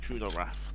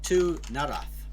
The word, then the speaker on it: Tunarath: Tuna wrath, the worst kind of wrath. That's very true. The wrath imposed by the tuna fish. Or Tunarath would be the right way to say it.